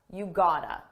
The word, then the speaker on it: gotta: This is a reduction. It's a combination of the words got, to, and it's pronounced as one. Gotta, you gotta.